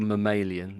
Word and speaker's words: mammalian: I like your mamalian. That's exactly how it's said.